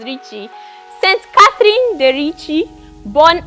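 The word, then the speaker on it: Ricci: have thought is Ricky it's not Ricky it's Richie St Catherine the Richi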